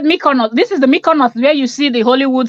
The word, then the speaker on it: Mykonos: she living I beg how is this one pronounced she said my corner this is the Mykonos where you see the Hollywood celebs that's the one yeah Mykonos wow okay yeah the world is a small